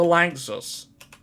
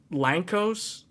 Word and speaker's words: Lanczos: it is called the Lanczos. I used to pronounce it as Lankos, because I think that sounds better, but Lanczos or Lanczos is essentially the name.